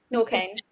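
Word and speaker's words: Norqain: Norquain.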